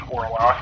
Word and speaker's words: Olrox: I know it's like supposed to be Orlock and is spelled Olrox, but anyway.